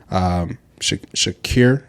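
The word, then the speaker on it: Shaqir: Shakir, that's how it's pronounced.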